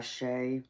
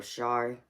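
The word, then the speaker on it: Shai: Yeah, Artist Mac, it's that song by Shay, or Shy. It's spelled S-H-A-I.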